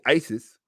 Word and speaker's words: Isis: Isis, or if you really want to pronounce it correctly, Isi, or you would say the word easy, like easy come, easy go, easy, because the correct phonetic pronunciation of the original term would be ase, and the Greeks corrupted it to easy.